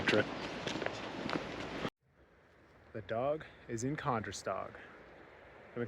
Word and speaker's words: Kandersteg: The dog is in Kandersteg. I'm in Kandersteg, actually, that's the way it's pronounced.